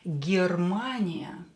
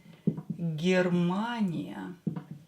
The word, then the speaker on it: Германия: Германия. Германия. Германия. Germania is Germany. Germania is Germany. Ye will be pronounced as E because it's not stressed.